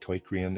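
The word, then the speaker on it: Teucrium: I'm pronouncing that torium. It's spelled to eu c i u m and breeders aside.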